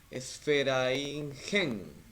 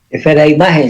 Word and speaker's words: Esfera-Imagen: Y Dalton Osorno también nos pregunta, ¿qué dejó la coordinación del taller de literatura Esferaingen? Sí, espero haberlo pronunciado bien. Esfera-Imagen se llama.